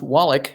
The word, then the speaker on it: Wallach: It's pronounced Wallach, like Eli Wallach, the good, the bad, and the ugly.